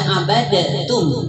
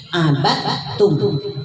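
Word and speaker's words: عبدتم: Abatum itu tidak dibaca abadatum ya, tapi abatum.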